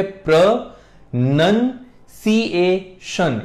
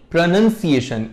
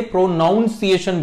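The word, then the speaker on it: pronunciation: कहा जाता है और इसकी सही प्रोनंसिएशन होती है प्र नन सशन यानी प्रोनंसिएशन इसमें नन आता है नाउन नहीं लोग इसे प्रोनाउंस एशन बोलते हैं विच इज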